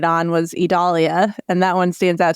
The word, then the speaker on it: Idalia: people I realize I I realize why I kept mispronouncing it because of Adelia Georgia what one letter difference I figured it out